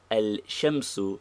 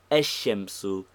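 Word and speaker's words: الشمس: Thus, al-qamaru is easy, but al-shamsu is never found, while ash-shamsu is easier to pronounce.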